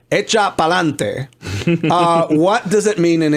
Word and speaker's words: Echa pa'lante: RuPaul likes to throw the phrase out, "Echa pa'lante," but it correctly pronounces "Echa pa'lante."